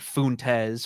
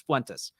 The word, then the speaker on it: Fuentes: and and so actually they mispronounce his name you'll get Fontes Fuentes it's like you're I know what you're doing you're purposely like me messing it up it's Fentes But um this is the problem.